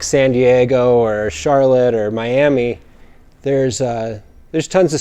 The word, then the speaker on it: Miami: in miami oklahoma spelled just like miami but pronounced miami and it was me tagging along with russell